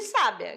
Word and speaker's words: sábia: é o pi aqui diferente de sábia que na primeira é sábia na segunda é o bi e na terceira nós